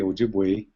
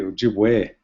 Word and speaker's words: Ojibwe: So using the current orthography, we would spell Ojibway, and we're mispronouncing it when we say Ojibway. We should say Ojibwe, O-J-I-B-W-E, Ojibwe.